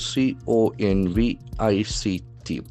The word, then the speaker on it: convict: v i c t this has go to pronunciation based on the grammatical position if it is a noun the accent falls on the first syllable con convict there are only two